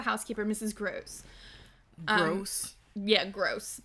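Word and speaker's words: Grose: mrs gross gross yeah gross but spelled like g-r-o-s-e so not gross gross still gross um and there she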